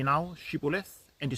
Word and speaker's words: Shibboleth: to pronounce the word Shibboleth, but the Ephraimites could not pronounce the H in the word and pronounced it Sibboleth.